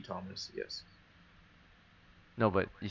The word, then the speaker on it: Thomes: The H is silenced, but it would be Thomas.